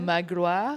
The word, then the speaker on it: Magloire: Today with me is, and am I pronouncing this well? Yeah. Magloire.